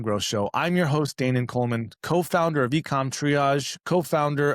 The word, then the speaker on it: Danan: Is it not Dan Coleman? You got it. We are friends. Okay, good. Is there a different way to pronounce it? There's lots of ways depending on where you are are in the world. I'm Dan. Israelis call me Dan.